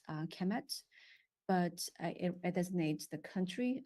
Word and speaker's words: Kemet: So it's KMMT, actually spelled just pronounced as Kemet, but it's actually written KMMT.